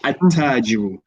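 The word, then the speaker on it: التاجر: When you have alif lam, then followed by a sun letter, you drop the lam in pronunciation and you put a shadda on the sun letter. So you say at-tajiru, ath-thawbu, ad-diku.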